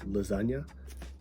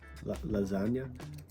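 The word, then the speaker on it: Lazanias: It's called Lasagna. Lasagna. Sounds exactly like lasagna, like the food, but it's spelled L A Z A N A I S.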